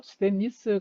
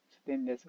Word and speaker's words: 스테인리스: 그래서 대부분은 이제 저희들이 뭐 스테인리스 강이 맞는 말인데요. 요걸 발음을 잘못하면 스테인레스가 되죠. 스테인레스.